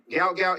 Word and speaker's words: Gout Gout: record so everybody knows gout gout is the correct way yeah yeah all right gout so everybody gout gout gout gout that's right